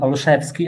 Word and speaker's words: Olszewski: thank you hello everyone my name is olushevsky i know it's very hard to pronounce i represent the 2km zero company entirely